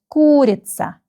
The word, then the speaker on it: курица: The first syllable is stressed. КУРИЦА.